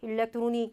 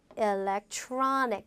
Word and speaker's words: electronic: 이런 거 강세 모르시면 사람들 다 이렇게 똑같이 발음하죠. electronic 이렇게 똑같이 발음하잖아요. 그러지 마시고 electronic 이렇게 강세 넣어서 발음하시면 좋죠.